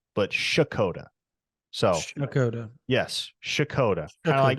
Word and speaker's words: Checotah: Okies who informed me that it is not chicota but shakota so Dakota yes shakota kind of like you